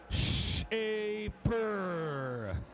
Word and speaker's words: Schafer: He pronounces his name Schafer.